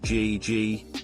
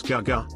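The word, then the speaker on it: 哥哥: Chinese with my sisters the pinyin for older brother is gay gay which we all said like G eg when the correct pronunciation is Gege ish we couldn't understand why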